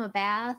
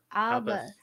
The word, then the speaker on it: Abba: I always get his name wrong. I always call him a bath or a both. Abba. Like the group, the musical group.